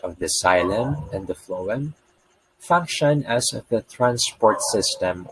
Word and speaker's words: phloem: you to recall water phloems pH on the other hand is pronounced like the letter f which is how you